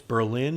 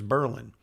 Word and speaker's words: Berlin: And in Germany, it's Berlin, and in New Hampshire, it's Berlin.